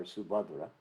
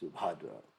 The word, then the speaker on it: Subhadra: Counted among this well-wishing friends are Subhadra, and as we mentioned in the last chapter, Subhadra is also the name of Krishna's sister. Mandali Bhadra, Bhadravardhana, but these are men. Gobata, Subhad, actually it's pronounced Subhadra, but it's a lady.